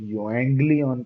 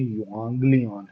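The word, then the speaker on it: εὐαγγέλιον: हम लोग युएंग्लियन कहते हैं, बट वो युएंग्लियन नहीं है, युआंग्लियन है रेज़मिक प्रोनाउंसिएशन में।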